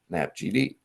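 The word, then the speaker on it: NAPGD: geop potential datum of 2022 are nap GD 2022 pronounced nap GD so this is is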